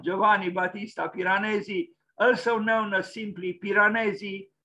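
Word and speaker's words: Giovanni Battista Piranesi: greatest giovanni batista piranesi italian pronunciation is this one giovanni batista piranesi also known as simply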